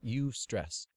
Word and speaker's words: eustress: H Cel an endocrinologist dubbed it UST stress pronounced UST stress e s r SS